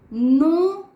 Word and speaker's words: know: नो, न्यू, नोन. इसमें नो में के हमारा साइलेंट होता है.